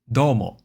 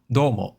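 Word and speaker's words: どうも: Domo. With the do high pitch and the umo lower pitch. So, there's a drop after the do. Domo. Domo. Okay?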